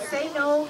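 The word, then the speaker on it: せーの: right ready oh and say no means begin in Japanese it's not saying say no it's actually s e n o anyway ready say good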